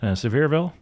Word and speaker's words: Sevierville: Sevierville, Tennessee.